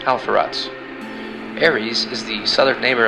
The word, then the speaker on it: Alpheratz: Pisces' brightest star is pronounced Halverge, and Andromeda's brightest star is pronounced Alpheratz.